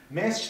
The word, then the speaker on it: 滅私: ますが、メッシと読みます。